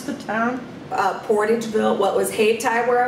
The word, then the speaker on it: Portageville: your family doing there in how do you pronounce the town uh portageville what was haytai where i was born but